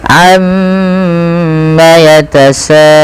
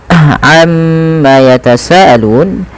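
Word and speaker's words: عم يتساءلون: Di sini kita harus menahan bunyi suara mim yang berharakat tasydid karena dia termasuk daripada bacaan ghunah. Nah, ini jangan kita langsung baca amma yatasaalun, tapi tahan dahulu ghunahnya atau bunyi suara mimnya sepanjang dua harakat.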